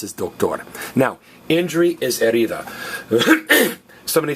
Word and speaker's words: herida: So herida is injury. And again, the H is silent.